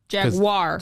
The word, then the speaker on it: Jaguar: jaguar you say jagu I I say Jaguar Jaguar it's G is there a w in there Jaguar Jag no the u stand jaguar or you can be British and say jaguar how they pronounce the